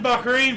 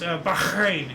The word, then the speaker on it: Bahrain: Baharrain proclaimed independence after 110 years of British rule. Awesome. Uh actually I mispronounced her name. It's Bahrain.